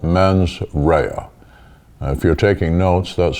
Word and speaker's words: mens rea: the prosecutorial burden is establishing an element called men's rhea if you're taking notes that's spelled m-e-n-s next word r-e-a from the latin